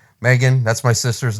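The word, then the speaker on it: M3GAN: that's the picture uh I guess you pronounce it Megan it's M3 gan Megan that's my sister's name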